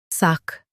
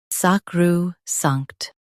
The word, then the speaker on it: sacrosanct: SACROSANCT, SACROSANCT. Stress sanct and keep sac soft.